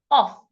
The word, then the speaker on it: of: words like on of off of is pron is spelled o f of o f the F sounds like a V when you have o